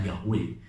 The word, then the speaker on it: Yahweh: Malaikat Tuhan Tuhan itu sebenarnya terjemah dari YHWH atau bahasa dibacanya Yahweh.